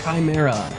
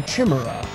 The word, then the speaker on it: chimera: also fight these this a chimera or a Chima for the those of you who like to pronounce it in a certain way oh wait I showed